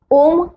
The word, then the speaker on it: ॐ: चला तर मग शिकूया ओम उच्चारण कसा करायचा आहे ओम हा तीन ध्वनी पासून बनला आहे पहिला अ दुसरा उ आणि तिसरा म हे ध्वनी आपापले वेगवेगळे